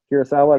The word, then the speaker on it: Kurosawa: The Japanese guy, Kurosawa, is that how you say his name?